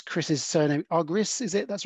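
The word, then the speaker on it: Argyris: know all things are coming I could ever pronounce Chris's surname agris is it that's right and it's double Loop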